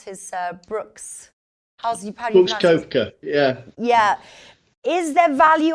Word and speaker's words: Koepka: question now is Brooks quote Cohen powdered you pronounce his Brooks koepka yeah yeah is there value on him would